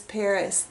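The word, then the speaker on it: PVRIS: And maybe you guys know how to pronounce that, but she says she pronounced this Paris. The A is upside down.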